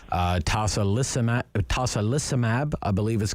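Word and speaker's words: tocilizumab: if i pronounce it wrong uh tasa lissa tosa lissamab i believe is called um you did well rob so i'm happy to take that one so tosoluzumab it's an il-6 receptor blocker what that means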